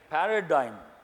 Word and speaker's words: paradigm: is the next one paradigm G is silent means sudden shift in